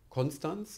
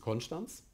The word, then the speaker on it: Konstanz: Ähnlich ist es bei Konstanz. Niemand sagt dort Konstanz in der Region, sondern es ist Konstanz. In der ARD-Aussprachedatenbank und im Standard ist es trotzdem Konstanz.